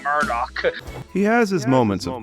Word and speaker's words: Murdoch: got my magic carpet May duck I'm sorry but what the was that pronunciation of Murdoch he has his moments